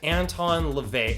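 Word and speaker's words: Anton LaVey: the church of satan's name wrong the correct pronunciation is in fact anton levay and i do hope that in this particular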